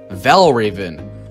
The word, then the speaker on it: Valravn: raven no no no it's pronounced like raven but spell without the e why here is an